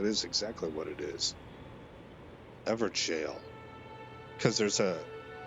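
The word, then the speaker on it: Evergaol: Ever jail. Because there's a I used to pronounce that with a hard G.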